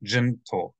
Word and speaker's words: gentle: the n and then this word gentle the accents on the first gentle and there's no KN sound just gentle and then Gentile is